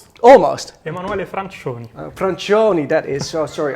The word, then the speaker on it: Emanuele Francioni: His name is Emanuele Francioni. Is that correct? Almost. Emanuele Francioni.